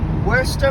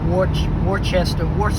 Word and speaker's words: Worcester: It said like Worester, but it's spelled like Warchester. Worchester sauce. But it's Worester.